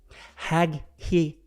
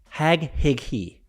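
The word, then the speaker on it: Haghighi: bad of a it's h a g h-a-g-h-i-g-h-i hag he hag he there we go said marianne hag hickey the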